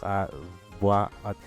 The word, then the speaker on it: à voix haute: Okay, so there's no liaison. And the H is silent as normal.